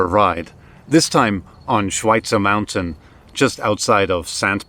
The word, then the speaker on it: Schweitzer: review oh schweitzer and it pains me to pronounce it like that it should be schweitzer schweitzer is different schweitzer isn't as much